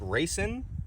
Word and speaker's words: Raceseng: I think it's it's I think it's pronounced racing racing it's like race s-e-n-g I I loved it